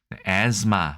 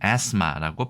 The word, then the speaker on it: asthma: 천식이란 말이 우리나라에서도 어려운 의학용어로 사용되듯이 영어에서도 asthma라고 해서 th는 묵음이고요. asthma 혹은 asthma라고 발음을 합니다.